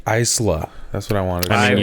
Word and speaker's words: Isla: right isla fisher yeah why is there an s in her first name if it's pronounced isla because it's not american i was like not american